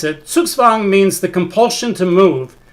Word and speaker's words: Zugzwang: as i've been taught the z in this particular circumstance that comes from the german is pronounced like sort of like an english ts ts that w is